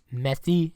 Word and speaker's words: Messi: Methy? Yeah. That's how you say it if you're from España.